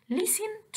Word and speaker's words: listen: listen to the CD، وإحنا اتفقنا إن كلمة listen التي عندي silent. يعني إيه silent؟ يعني مش بنطقها، مش بقول listen، no أنا بقول listen.